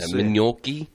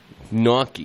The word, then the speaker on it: gnocchi: Yeah, Mignocchi. Mignocchi? Yeah. No, I don't think it has an M in it at the beginning. Gnocchi.